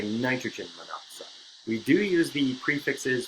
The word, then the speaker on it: monoxide: one oxygen we're gonna put em on oxide mono oxide but we would pronounce it monoxide because it's not a second Oh what we